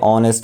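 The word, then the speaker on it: honest: যেমন what a অনেস্ট ম্যান, এটা এই যে অনেস্টের আগে এ বসে,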